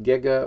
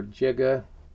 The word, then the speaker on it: giga: hertz and then the capital g pronounced giga or jiga either pronunciation is okay depending on where you are in the world but that means times